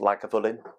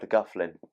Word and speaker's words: Lagavulin: out there who get things wrong it is pronounced like a villain I had somebody once say have you tried the guff Flynn so the whiskey itself as I said 16